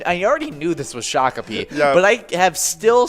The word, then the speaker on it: Shakopee: shakopee and if you didn't know we say shakopee all the time and hit it all the